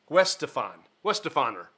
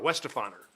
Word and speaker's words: Weihenstephaner: I even went online to watch the video to figure out how to pronounce this. Weihenstephaner, because it's an ER. Weihenstephaner is how they pronounce that.